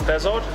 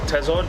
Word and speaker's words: thazard: Now, the frigate tuna, scientific name Auxus thazard, or tazard, depending how you want to pronounce these, same as Thul and Thul.